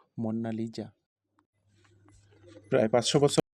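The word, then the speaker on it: Monna Lisa: মোনালিসা একটি Italian ভাষা, যার সঠিক উচ্চারণ হলো মোন্না লিজা।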